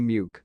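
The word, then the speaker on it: Muick: The Corgi Muke, pronounced Mick, is named after Loch Muke on the Balmoral estate.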